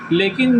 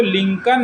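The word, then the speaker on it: Lincoln: है चलिए ठीक है लेकिन जो लिंकन है उसमें सी ओ के बाद एल आ रहा है ना ये एल साइलेंट है ये एल साइलेंट है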